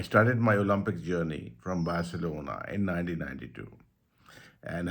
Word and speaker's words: Barcelona: People call it Barcelona, so because it's Spanish, so pronunciation is slightly different.